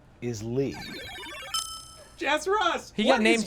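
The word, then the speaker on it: Leigh: is your middle name my middle name is lee jess ross he got named twice well it's spelled differently l-e-i-g-h taiyo what is your middle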